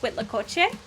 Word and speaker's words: huitlacoche: Please, please forgive me if I mispronounce this, but I believe it's pronounced huitlacoche.